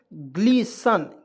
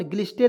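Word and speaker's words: glisten: यहाँ आप देखिए जी एल आई एस टी एन, क्या होगा दोस्तों, ग्लीसन। क्या पढ़ेंगे दोस्तों, ग्लीसन, ग्लिस्टेन नहीं पढ़ेंगे, ग्लीसन पढ़ेंगे। आप देखिए यहाँ पे बी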